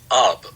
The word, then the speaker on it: Ub: Is it Oob? Oh, very good question to ask. And either one is correct. So Oob called himself Oob, and Walt called him Ub, which meant everyone else at Disney called him Ub also.